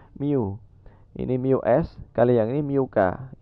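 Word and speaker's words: μ: tapi untuk pada disini dia sudah besaran kita bacanya Miu ini Blues kalian ini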